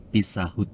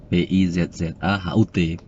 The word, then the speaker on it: Pizza Hut: Itu yang benar bacanya Pizza Hut. Loh, tapi saya tetap ngeyel karena tulisan di sana itu tulisannya Pizzahut. Hut bukan HAT gitu.